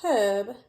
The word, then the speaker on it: herb: Even though it starts with H, we do not pronounce the H, so it needs to be unherb. Now, if we were in the UK, we could say a herb, and that would be